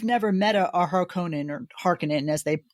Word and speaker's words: Harkonnen: top, explaining you've never met a Harkonnen or Harkonnen as they pronounce it.